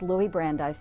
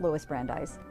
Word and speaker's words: Louis Brandeis: of indirectly, but he was his name is pronounced uh Louie. It's Louis Brandeise, not Lewis Brandeise.